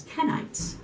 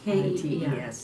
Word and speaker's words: Kenites: They are what is known as Kenites, another group, another tribe. K-E-N-I-T-E-S, not Kenites, yes. Kenites, yeah, K-E-N.